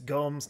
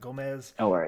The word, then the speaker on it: Gomes: wrong all this time it's gums not gomez um no worries yeah